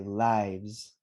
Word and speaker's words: lives: emphasize for everybody that when we have a v then we have automatically a z say lives lives everybody lives life